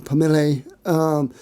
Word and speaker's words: pommelé: Now pommel is the anglicized pronunciation of the French word pommelli or pommelé, that basically means dappled.